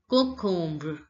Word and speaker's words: concombre: Concombre. Concombre. On is pronounced as on. On. Om is pronounced as ombre. Om. So it becomes concombre.